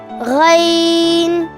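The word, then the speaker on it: غين: How to pronounce Ghain? The back side of the tongue will touch the upper throat, producing gha sound like gargles, and then in sound.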